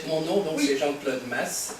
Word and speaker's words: Maes: Donc, mon nom, donc, c'est Jean-Claude Maes, M-A-E-S. Oui. En fait, à Paris ou dans le sud, ils m'appellent toujours Maes, mais en fait, c'est Maes.